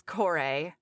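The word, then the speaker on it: Kore: So Liv, our wonderful academic podcaster says core. And that's how I would pronounce it. Um, like if I was using a Hawaiian pronunciation, which is usually my like default, right, when I see something that's not familiar, but in Hades Town, all of the actors said core and we said core, too.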